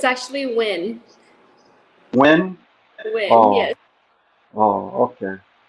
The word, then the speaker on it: Nguyen: when oh so the so the n and the g is silent oh all this time